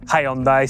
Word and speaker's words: Hyundai: Let me introduce you to the Hyundai Inster or Hyundai if you're American or Hyundai if you want to say it properly cuz apparently you say Hyundai. Here in Northern Ireland, we say hi Hundai.